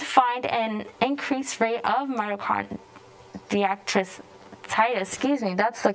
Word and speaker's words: myocarditis: The doctors did find an increased rate of myocarditis that's the correct pronunciation, among young men.